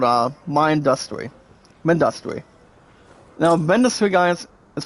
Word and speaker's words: Mindustry: Now Mindustry guys is pronounced m i n d u s t r y.